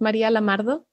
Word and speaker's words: Maria Lamardo: it comes from sure so my name is maria lamardo i am originally from venezuela though i do